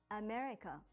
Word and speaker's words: America: For example, when you say America in English, you put stress on me and say it for longer than the other parts, America.